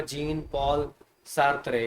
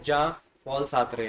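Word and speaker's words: Jean-Paul Sartre: सी होती है, जैसे यहाँ पे लिखा होगा जीन पॉल सार्त्रे, है ना, बट इसकी प्रोनाउंसिएशन है जा पॉल सार्त्रे, है ना।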